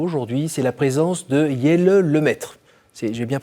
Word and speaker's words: Jelle Lemaître: Alors j'ai un cadeau pour vous aujourd'hui, c'est la présence de Jelle Lemaître. J'ai bien prononcé?